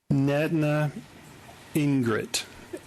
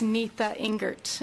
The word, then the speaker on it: Nita Ingert: bonnie netna ingrid and i really could have mispronounced your name please forgive me and if you would when you begin pronounce your name for me so we get it right for the record it's nita ingert and i'm a resident